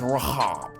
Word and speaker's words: Rahab: say America and so when you say Rahab that's the America way of saying it if you would have said it back then in them days it would have been pronounced Rob okay or how because over in that part of the world they like talking with the back of their throat now continuing on so